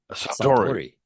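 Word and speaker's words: Suntory: Santory, you have to say it like a Japanese, like he's a sumu wrestler.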